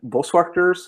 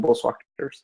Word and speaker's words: Boswachters: Online Boswachters, how I pronounce it, it's a Dutch word.